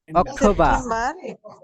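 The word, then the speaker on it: October: এটা কিন্তু হবে না এখানে হবে কি September অক্টোবর অক্টোবর অক্টোবর November বারটা উচ্চারণ করবেন এই র টা মনে করেন নাই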